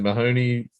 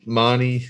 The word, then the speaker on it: Mahoney: as i mentioned and mahoney or mani sorry is the way he likes his name pronounced um out of this